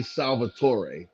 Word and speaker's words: Salvatore: for them his name is like how you pronounce it is r.a salvatore yeah salvatore right so those books got picked